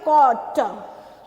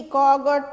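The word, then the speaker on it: caught: उसके बाद है कॉट, तो हम बोलते क्या है, GH हम नहीं बोलते हैं, है ना, कॉट, CAUT, GHT, कॉगट नहीं बोलते हैं, कॉट बोलते, कॉट, कॉट, है ना। तो इसमें क्या साइलेंट है, GH जो है वो क्या है, साइलेंट है, ठीक है।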